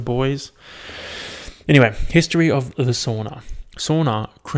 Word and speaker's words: sauna: goku vegeta the boys anyway history of the sauna sauna correctly pronounced so na so sona it's sauna sauna sauna is the